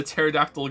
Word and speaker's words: pterodactyl: impossible to hear the pterodactyl going to the bathroom because the p is silent what what did this